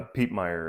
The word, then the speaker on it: Piepmeier: yeah and um the right pronunciation of yours uh Pete Meer is my last name okay Pete Meer